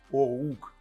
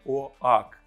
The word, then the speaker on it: Oakley: корінь цього слова оук незважаючи на написання слово ми його вимовляємо оук а не оак що значить дуб Слава